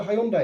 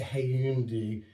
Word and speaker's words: Hyundai: And he looks at the car and he goes, oh, you've got a Hyundai. And she goes, it's a Hyundai. If you've not been saying that for years, you've been saying it wrong.